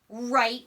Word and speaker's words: write: this is how authors write words so I always remember that the W is silent because when I write